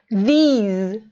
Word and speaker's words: these: E a segunda palavra é como se ela tivesse um I mais prolongado e som de Z, these.